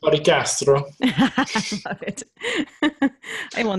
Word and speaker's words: Policastro: Policastro. Okay. Say it with the Italian accent. Policastro.